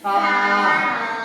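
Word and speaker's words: ثاء: এই অক্ষরটা কোথা থেকে উচ্চারণ হয়? জিহ্বার আগা, দাঁতের গোড়া আর জিহ্বার আগা, তাই না? বলো দিদি সা। বলো সা। সব জিহ্বাটা হালকা বার করো মুখ থেকে। সা।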